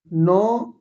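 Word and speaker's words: know: meet मिलना meet met मेट मिलना नो न्यू देखो एन से पहले के साइलेंट रहेगा एन से पहले के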